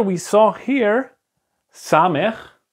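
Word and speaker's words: סמך: It's like the letter we saw here, samech. It's the same pronunciation as this letter, seen.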